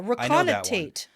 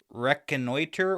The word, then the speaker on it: reconnoiter: I don't think you said it right. Reconnoiter. But anyways, I figured it meant something like get reconnaissance on because I know the word reconnaissance. Yeah, reconnoitate.